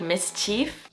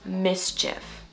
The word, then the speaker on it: mischief: Non-natives would probably say something like mischief, but it's actually pronounced mischief. Notice the difference. Wrong is mischief, right? Mischief. These little ones can get into mischief. Just imagine that it's an if sound at the end, not an if sound.